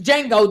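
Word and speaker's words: Django: on listen it was D Jango the D is silent uhhuh so they were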